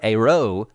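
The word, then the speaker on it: Eyraud: well sort of her her man her Handler AO I believe is that is that the pronunciation AO oh that's good yep and and Taylor Made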